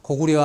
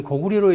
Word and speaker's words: 高句麗: 그래서 그 당시에 신문에 보면 서길수 교수가 고구려 아닌 고구리로 읽어야 한다고 주장했다.